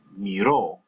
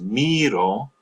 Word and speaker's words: miró: Now, the usted, él, and ella forms, you want to stress that final syllable as well. So you have miró, and this is where it's very important to get the stress right, because miro, with the accent placed on the I, with the stress placed